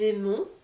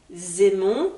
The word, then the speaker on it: aimons: aimes il aime elle aime on aime nous aimons vous aimez ils aiment elles aiment je souhaite faire quelques remarques sur la prononciation du verbe aimer très important déjà de